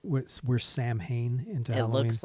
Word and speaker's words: Samhain: Like we're Sam Hain into it Halloween. looks like Sam Hain. Because Sam Hain is, well, it's They pronounced know.